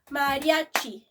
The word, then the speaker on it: Mariachi: More of three syllables. Mariachi.